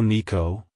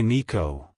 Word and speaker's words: Niko: to pronounce it correctly emphasize the first syllable NE and then the second syllable Co like hello Nico goodbye Nico if you found the